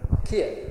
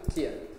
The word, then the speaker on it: Cian: So actually I didn't say that the C is always a K, always a K. Cian, yeah, exactly, Cian.